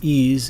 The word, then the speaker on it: EES: EES, which is pronounced EASE, is an acronym for Engineering Equation Solver.